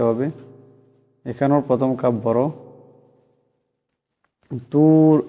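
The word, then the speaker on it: الطور: তুর, এখানে রাটা মোটা করিয়া উচ্চারণ করতে হবে।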